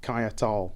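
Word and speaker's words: Caiatl: Okay, so there's the pronouncing, Keitel. So yeah, I just pronounced it wrong.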